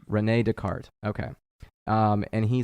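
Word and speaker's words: René Descartes: by uh Descartes to uh how do you pronounce his name because I was saying it wrong Renee Descartes Renee Descartes okay um and he said divide each difficulty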